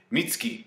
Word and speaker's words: Mitsuki: In the anime's case, it's Mitsuki. I I like how they pronounce it without the U. Like the U doesn't sound like with with Sasuke, you don't say Sasuk, you say Sasuke. Mitski.